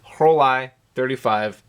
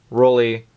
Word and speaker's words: Rollei: s here with the whole i-35 film camera I have heard the brand name pronounced several different ways Rolly Rolly but it's German right so it should be whole I this is one of